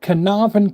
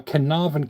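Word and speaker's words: Caernarfon: Uh his royal highness, the Prince of Wales investature at Canavan Castle, I believe it's pronounced. That's C A E R. Canavan Castle, 1st of July, 1969.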